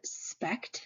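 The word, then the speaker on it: SPECT: emission computed tomography and the abbreviation is pronounced as a word Speck a spec scan so a spec scan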